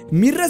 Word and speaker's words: Myrrah: edad todo número 23 cómo se pronuncia correctamente su nombre mirra se pronuncia y deletrea similar a la palabra sueca mira que se traduce en hormiga y sería bien dicha en su ego como mira dato número 24 que